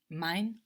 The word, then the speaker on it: mein: Mein. Mine. So mine means my. So ein is spelled E-I-N. We know this E-I gives us the I sound.